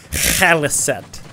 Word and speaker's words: Khaliset: I like how her name's spelled with a K, but it's pronounced with a hard H. Khaliset.